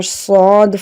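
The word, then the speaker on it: ص: Now Sad is a heavy letter. When we pronounce it, the sound should be heavy, like Sa, Sa. The mouth should be opened upwards and it makes a heavy sound.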